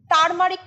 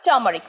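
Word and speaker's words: turmeric: ইংরেজি কি টার্মারিক টার্মারিক তারমারিক কিন্তু ভুল উচ্চারণ তার র থাকলেও র কিন্তু উচ্চারণ হবে না সঠিক উচ্চারণ টার্মারিক মোহনা আরেকবার টার্মারিক হ্যাঁ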